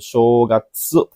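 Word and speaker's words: 正月: Apakah bacanya ini shogats atau sogatsu atau shogats? Nah, ini mirip-mirip nih bunyinya nih. Hati-hati ya. Hai. Oke, pilihan yang benar adalah jawaban ke satu bin itu shogats panjang ya dan bunyinya show ya shogats.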